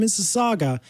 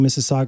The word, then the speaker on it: Mississauga: or you have brilliant thoughts like Dave from Mississauga, email. You see how I keep saying Mississauga because I know how to pronounce it now.